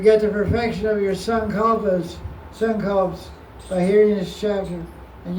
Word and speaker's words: Sankalpa: It's called Bhajan Sankalp. It's spelled Sankalpa, but it's pronounced Sankalp.